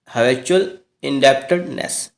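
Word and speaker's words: habitual indebtedness: ठीक है, हैबिचुअल इंडेप्टनेस, इस तरह से बोलेंगे इसका प्रोनाउंसिएशन।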